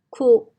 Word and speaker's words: quote: Y en este caso, La O dice su nombre, Q, oat, y la E es muda.